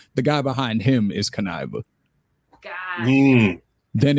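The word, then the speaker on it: Kuniva: the members what's his name how do I pronounce his name k u n i v a that's Kiva Kiva okay so his alter ego is con artist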